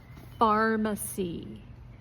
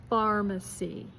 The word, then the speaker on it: pharmacy: Now we're going to do two words with a ph sound and you pronounce it like an F. Pharmacy. Pharmacy.